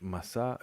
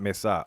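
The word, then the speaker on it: מסע: Masa journey is masa, so not hamasa, so not mesa.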